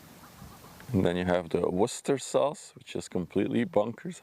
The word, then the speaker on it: Worcester: And then you have the Worcester sauce, which is completely bonkers how you pronounce it.